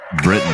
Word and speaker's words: Britton: Or Brighton? Is it Rich? Is it Britton or Brighton? Britain, like the country.